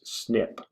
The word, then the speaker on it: SNP: began dividing into branches the mutations that mark the branches are abbreviated snp and pronounced snip we call those branches